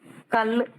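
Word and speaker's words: कल: rules அதுக்கு அடுத்த எழுத்து கல் கல்னா நேற்று நாளை முதல் க போட்டு அடுத்து ல் போட்டுருக்கு கானான்னு சொல்லணும் அடுத்து லானாதான் எழுதி இருக்கு ஆனா உச்சரிக்கிறப்ப எப்படி சொல்லணும் இல்ல சவுண்ட் தான் சொல்லணும் கலன்னு சொல்லக்கூடாது கல் கல்லுக்கு பொருள் நேற்று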